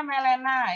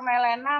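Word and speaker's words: melena: di ruang perawatan ya Dok lapor bacanya malenna Ya boleh Naya kalau merahnya seperti ini beneran ini malenna ya bisa connolly IC foto di ruangan Ya jadi seperti petis Jangan nanti lapor morena morena Seperti apa ternyata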